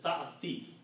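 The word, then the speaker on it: تأتي: This sound of this will be, the ya sound will go under ta and it will be pronounced as ta'ati.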